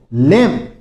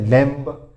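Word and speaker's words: lamb: फिर देखो लेम, इसमें भी बी साइलेंट रहता है। इसका मतलब क्या होता है? मेमना, मेमना कोई छोटा सा जंगली जानवर, लेकिन बहुत से बोल जाते हैं लैम्ब, लैम्ब नहीं होता है, सिर्फ लैम्ब बोलना आपको।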